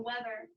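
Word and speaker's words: wether: is called what a weather a weather but it's spelled w-e-t-h-e-r not like wow how nice is the weather or like i don't know whether or not i'm gonna go do it a weather here a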